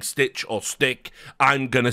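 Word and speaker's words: Stich: to have a guy, I believe it's pronounced Stitch, but some people have, I've heard people say Stick, like with a hard K, because it is like S-T-I-C-H, but I always thought it was just Stitch. So I've never heard his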